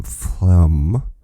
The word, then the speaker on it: phlegm: complicated word it's like spelled p h l g no p h l e g m flemm and i'm grateful that he gives me the pronunciation of it if i just read